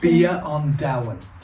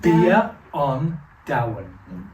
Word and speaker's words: Bia an Domhain: How did it start, this whole idea of Beyond Dam? Is it like that you're pronouncing? Beyond Down, which Beyond is Beyond Down. Beyond Down. Down. Yeah, Beyond Down, Okay. which is food of the world in Irish.